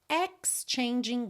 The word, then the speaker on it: exchanging: ex changing tá exchanging o g final não é pronunciado glances wondering in the